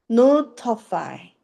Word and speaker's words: notify: F는 피읍 소리. 다시 A에 강세가 들어가면서 I는 이 소리 나는 거지. 자, 얘 그러면 합쳐보자. 은, 오, 우, 어, 이. 어떻게 읽어? notify. notify가 아니라 notify라고 읽어야 된다는 걸 우리가 알 수 있는 거죠.